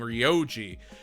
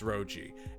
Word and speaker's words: Roji: I always mispronounce it as Muho and Ryoji, but it's Roji.